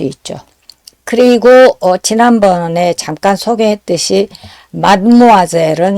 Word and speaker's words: mademoiselle: 그리고 지난번에 잠깐 소개했듯이 마드모아젤은 이제 발음을 세 가지로 할 수 있는데 이제 발음 규칙에 들어맞는 거는 첫 번째죠. 마드모아젤. 그리고 이제 일상생활에서 하다 보면 이 단어도 길고 발음도 기니까 약간 그 단어 내에서 그 자음 모음 사이에 변화가 오죠. 그래서 맘무아젤 혹은 만무아젤, 드 음이 사라지고 M이 한 번 더 나오거나 N이 나오거나 이런 식으로요.